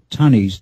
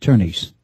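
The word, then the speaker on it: Tönnies: over the O so instead of calling it tanes t o n it's you it's you know effectively with the uml it's it's pronounced turnes but we don't have to get technical here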